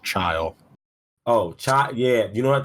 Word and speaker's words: Chile: So apparently in like Chile or Chile, It's Chile. it's chill. It's pronounced child.